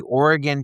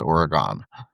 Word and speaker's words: Oregon: that it it was just stressed that it it wasn't pronounced Oregon. So all the people uh out by Oregon. Yeah. Yeah. We have a t-shirt that that phonetically has Ori and then a gun after it.